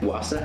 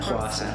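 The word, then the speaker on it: Hwasa: Wasa? Wasa.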